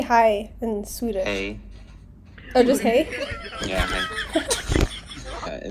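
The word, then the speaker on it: hej: Sweden how do you say hi in Swedish hey oh just hey yeah hey no is nay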